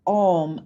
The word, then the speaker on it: Om: So the sound of Om actually is not meant to vibrate the front of the mouth and the lips like English. It's the tongue touches the roof of the mouth. In Kundalini, it's spelled O-N-G instead of O-M.